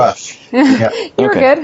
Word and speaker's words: Rush: You have athletes who, I'm thinking Rebecca Rush, I guess, as far as leading it, but is it Rush or Roosh? I just pronounced it horribly. Rush.